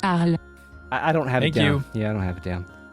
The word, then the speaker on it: Harley: If Harley is French, then her name is pronounced Arl.